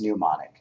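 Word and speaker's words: mnemonic: choosing good variable names which they call NIM money which I pronounced pneumonic pneumonic variable names single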